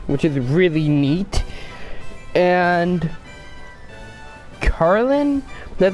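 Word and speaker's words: Carnelian: the beta kindergarten which is really neat and carlin that's how you pronounce it she's like a red gem and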